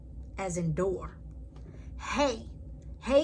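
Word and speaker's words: הא: Hey is pronounced like a H in hello, or like in English, it is used to end a word of a name.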